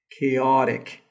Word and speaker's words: chaotic: sound here it's uh it's like a t that is pronounced in like something between T and D like chaotic anyway what